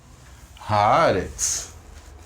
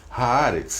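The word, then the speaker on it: הארץ: Haaretz, ok? Haaretz. E também é interessante a gente dar essa informação, acho que já dei algumas vezes, quando tiverem 2 vogais idênticas, a sílaba tônica fica na primeira, tá?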